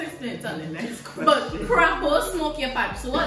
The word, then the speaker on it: crapaud: So it's crapo, smoke your pipe. What the hell? Crapo, smoke your pipe. It's like, it's kind of like a French word.